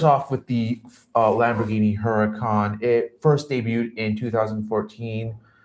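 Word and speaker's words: Huracán: Of course, the Lamborghini Huracan or as it's pronounced, the Urkan as well as the Ferrar Ferrari 488.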